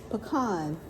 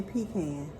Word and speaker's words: pecan: Pecan, they told us how to say it. They said don't say pecan cuz a pecan is a can you pee in.